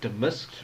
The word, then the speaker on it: damasked: I've seen roses damasked, that's how you pronounce that, damasked, red and white.